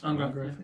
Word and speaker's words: Angrath: Angrath.